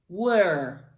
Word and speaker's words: were: Were. Were. Exagérez-le, celui-ci, presque en faisant une forme ronde avec la bouche ici pour faire le were.